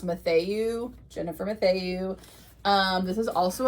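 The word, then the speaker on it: Mathieu: I think her last name is pronounced Matthew, Jennifer Matthew.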